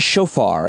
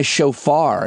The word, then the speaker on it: shofar: of a traditional horn called I think it's pronounced shofar.